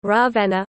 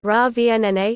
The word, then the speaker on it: Ravenna: Ravenna, Italian pronunciation, Ravenna, also locally Ravenna, listen, Romagnol, Ravenna, is the capital city of the province of Ravenna, in the Emilia-Romagna region of northern Italy.